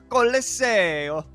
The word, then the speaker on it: Colosseo: Now, this next map has been debated on how it's pronounced, but I don't think anyone will debate me on this pronunciation. Colosseo.